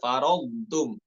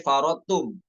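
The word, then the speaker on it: فَرَّطتُم: t ada kata ya faradum hati-hati kita sempurnakan dulu eh huruf d sukunnya faradum farum jangan sampai farotum bukan idgham Kamil bukan farotum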